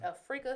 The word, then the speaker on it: Afrika: Afrika Stewart was not the Africa, one. but Afrika. Afrika. Yeah, right. It's spelled like Africa, but pronounced Afrika.